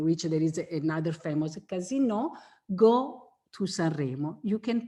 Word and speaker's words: casino: But Sanremo is also famous for the, what you say, casino, which is the same word spelled the same way, but we say casino.